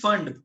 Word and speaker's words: Pfund: Second last name is फंड, PFUND। अब ये नाम है इनके, इसमें P साइलेंट है।